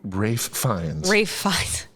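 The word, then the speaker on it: Ralph Fiennes: uh how do you say it fines oh Rafe fines yeah yeah in uh Grand Budapest Hotel yeah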